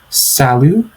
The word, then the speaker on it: salut: Now, of course, with the spelling, it does look like it might be pronounced salute, but it actually is pronounced salut.